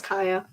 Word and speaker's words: Kaya: So it's usually people either misspell it or just don't know how to say it, but it's Kaya.